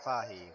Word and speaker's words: Fahey: Fahey. That's the correct pronunciation.